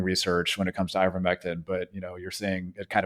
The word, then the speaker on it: ivermectin: But is it ivermectin? Is that the correct pronunciation? Yeah, that's right, ivermectin.